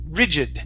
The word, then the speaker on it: rigid: The word is pronounced rigid. The stress is at the very beginning.